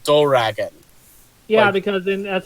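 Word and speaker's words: ドラゴン: Like the English word dragon is pronounced in Japan doragon.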